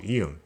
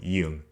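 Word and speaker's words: 이응: Or to be simple, it is a silent letter where you just have to pronounce the vowel it combines to.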